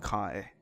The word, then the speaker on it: Kai: the biggest star name was called Kui in a Chinese pronunciation, but turned that into Japanese pronunciation. I think it's called Kai.